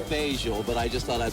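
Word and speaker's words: Fageol: the name of the box uh actually it's pronounced facial but i just thought i'd throw that in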